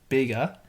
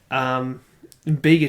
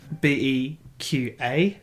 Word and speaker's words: Bega: Yeah, it's spelt BEGA, but the G, it's sort of stylized in a way that kind of looks like a Q, and so my dumbass looks at it and goes BEQA, and I'm like, okay, I guess that's Beaker.